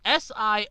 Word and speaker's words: Sione: It's Sione', by the way, so I'm probably mispronouncing that too.